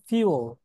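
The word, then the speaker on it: fuel: হ্যাঁ বলেছিলাম, কিন্তু ফুয়েল, কিন্তু খুবই মজার তথ্য, এটা উচ্চারণ হবে ফিউল।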